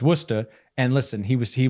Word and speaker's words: Worcester: he was from Worcester which I thought was called Worchester right everyone thinks that yeah yeah yeah well because it's how it's spelled but it's Worcester and listen he was